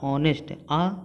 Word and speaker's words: honest: लेकिन देखिए हमारे हिंदी के जो वावल है उससे इसका प्रोनाउंसिएशन हो रहा है ऑनेस्ट, ऑनेस्ट।